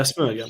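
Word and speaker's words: Smögen: cor range stuff sman I don't know how you pronounce that yeah Smur Smur yeah spot on yeah yeah so so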